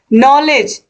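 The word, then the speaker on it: knowledge: भी साइलेंट हो गया नॉलेज ये तो आप जान ही रहे हो इसमें भी के का उच्चारण नहीं होता है ठीक है तो ये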